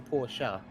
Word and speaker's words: Porsche: porsches or porsches porsche i suppose in germany it's a poor shower by definition then would that not be the correct way well it depends if you want to use the english pronunciation or the german pronunciation i think i'll stick